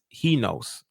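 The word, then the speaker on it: εἷς: But in fact, like it says, it cross-translated into the Greek, the word one means he knows. He knows is how you pronounce one in Greek.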